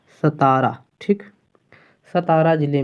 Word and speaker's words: सतारा: उच्चारण में गलती नहीं होनी चाहिए, सतारा।